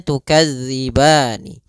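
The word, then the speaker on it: تكذبان: mati sedangkan di sini asalnya tukadzibani Nun berharakat kasrah karena dia waqaf nunnya itu biasanya bacaan al-qur'an atau baca orang Arab mematikan huruf akhirnya diganti dengan huruf sukun maka nunnya menjadi kita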